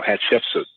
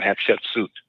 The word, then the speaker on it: Hatshepsut: She's actually a Pharaoh, Hatshepsut, or Hatshepsut, depending on how you want to pronounce it.